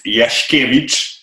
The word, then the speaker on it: Jaskiewicz: his last name because it's so hard to pronounce. So go ahead, let us know your last name. Hello, guys. It's Yashkevich.